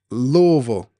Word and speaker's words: Louisville: Big LS305 says Louisville. That's how it's pronounced.